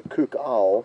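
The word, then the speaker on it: coucal: Now, just to confirm, it's not a cuckoo, it's a cook owl, spelled C-O-U-C-A-L. So don't be confused by my pronunciation.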